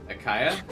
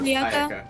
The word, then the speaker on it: Ayaka: Akaya? Is that how you say it? Ayaka? Ayaka.